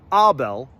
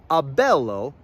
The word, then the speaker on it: abelo: So, it does not become abel. No. Abelo is shortened to abel. Bel still gets the emphasis, the stress.